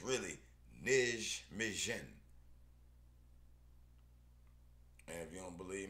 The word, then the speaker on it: Nijmegen: Okay, that J is pronounced like an I.